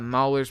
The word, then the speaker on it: Mauler: Mauler's pronounced like Maul as in bear.